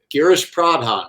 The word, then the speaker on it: Girish Pradhan: the label and said, so Girish Pradhan, right? Is that how I pronounce his name? Because I don't want to say it incorrectly on this. And they said, yeah, no, you got it.